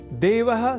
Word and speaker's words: देवः: यहाँ देवः इस शब्द के उच्चारण में ए इस अक्षर का विशेष ध्यान रखे जाने की आवश्यकता होती है, अर्थात ऐ इस अक्षर का प्रयोग हमें नहीं करना होता, क्योंकि देव तो ईश्वर